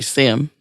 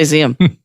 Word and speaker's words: SIEM: event management tools mm-hmm which we say sim because we can cuz we can but we spell it siem sorry I am but we say see'em but it lets the